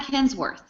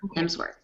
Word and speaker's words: Hemsworth: we never agree on the guy but iLike hemsworth is how you say his name yeah I